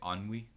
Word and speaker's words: ennui: they're in is called I'm gonna try and pronounce this right, Ennui.